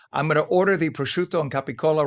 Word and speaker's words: prosciutto: Hey, please, I'll go and get some prosciutto. And yes, I Yes.